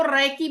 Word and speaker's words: Reiki: उसकी स्पेलिंग है are double E आई के आई और जो अपन ये सीख रहे हैं आर इ आई के आई। अपन रेकी सीख रहे हैं। वो रेकी है और ये रेकी है